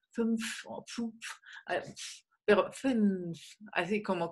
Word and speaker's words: fünf: Luego lo que cuesta mucho trabajo es pronunciar esta palabra, fünf, fünf. Es, bueno, es como que hay que articularlo con la boca muy adelante.